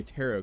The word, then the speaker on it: tarot: and whipped out a tarot card and by the way I learned how to say tarot card now apparently it's not pronounced like carrot I guess we learned